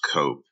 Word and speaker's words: Cope: I've seen different spellings of it, but it's pronounced Cope.